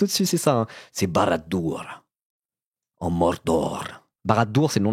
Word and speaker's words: Barad-dûr: Non, pas Baladur, Barad-dûr. Ça s'écrit comme ça. Barad-dur. C'est du Sindarin.